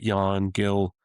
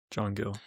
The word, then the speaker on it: John Gill: then third was actually Jan Gill with the Last Alliance. That's someone that you played. John. You played in. Pardon? John. John? Oh, I'm saying it wrong. John Gill.